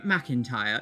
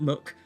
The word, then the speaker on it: McIntyre: so it's slightly different surname McIntyre not Muk no capital I there are so